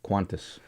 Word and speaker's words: Qantas: Qantas. Because there's no the U. only Q without a U after it. Yes. But it's still pronounced Qantas. Qantas.